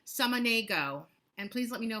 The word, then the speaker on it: Samaniego: Please welcome Jewlya let me pronounce this correctly, because I know that I hate when people mispronounce my name. Samaniego.